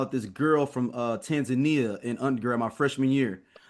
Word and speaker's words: Tanzania: I I can't tell the whole story, but but it's not Tanzania. It's Tanzania. That's how they say it.